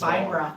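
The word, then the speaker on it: Baenre: But not too long ago, another archmage by the name of Gromph Bainra. Grump. Gromph Bainra. Grandpa. Got it. Bainra? Bra? B-A-E-N-R-E. Van Bra. Bainra? Bainra. Bongra. B-A-E. Beanra? Bungalow. It's Binra. Banera.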